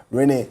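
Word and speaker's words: Renate: Join us to share with us this morning is CEO of Learn, Grow, Invest Limited, Renee. It's R-E-N-A-T-E, but the T is silent.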